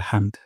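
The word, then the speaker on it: الحمد: যাবে হামদ হামদ আর হা উচ্চারণ করবো গলার মাঝখান থেকে হামদ রব্বানা ওয়ালাকাল হামদ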